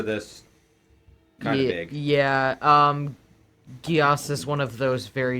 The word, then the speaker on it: Geass: This is the enchantment spell, and it's people pronounce it differently. Gias. Got it. Giat? Yes. Like Code Yes. Geass. Yes, Code Yes.